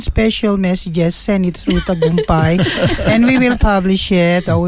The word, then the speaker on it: Tagumpay: Tagumpay. Paul, remember that. Tagumpay means success. Can you pronounce it?